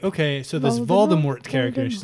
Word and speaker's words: Voldemort: years Tuesday's nothing that Baltimore stuff is actually pronounced Voldemort so it's SIA silent T and maybe she